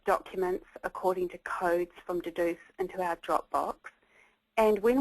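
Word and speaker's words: Dedoose: analysing each contribution in an online program called Deduce, and it's spelled D-E-D-O-O-S-E.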